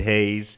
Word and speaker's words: Hayze: This is Void Hayes. Hayes is spelled Hayze.